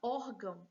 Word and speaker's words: órgão: A sílaba tônica é or. Portanto, a penúltima sílaba, paroxítona.